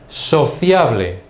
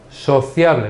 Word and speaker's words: sociable: Sociable. Sociable. Now, in this case, it is written exactly the same way, but the pronunciation is different. So, listen again to Spanish. Escucha otra vez español. Sociable, whereas in English you say sociable.